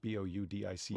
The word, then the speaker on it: Boudica: Boudica. Well, normally Boadicea or Boudica. Boudica. Okay.